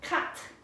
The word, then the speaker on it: quatre: Everyone say quatre. Quatre. Quatre. That one's kind of tricky. Almost like tendu. You have to have a little bit of frog in your throat for that one.